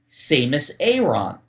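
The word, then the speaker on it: Samus Aran: TV God rested Soul yeah and Adam cesler pronounced her name seus Aon and I'm thinking have I been saying it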